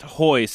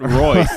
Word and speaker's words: Royce: Brazil they know that your name is pronounced hoist and not Royce like we think here in the U.S correct do you get